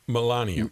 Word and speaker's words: Melania: melenia Millenia M how do you say it Melania Melania who was dressed in the Outdoor Clothing